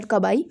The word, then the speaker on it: kabai: So, or you can whether pronounce it whatever you want, but here we consider kabai.